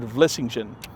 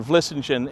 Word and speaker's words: Vlissingen: It comes from the word Vlissingen, and there is a Vlissingen in Holland.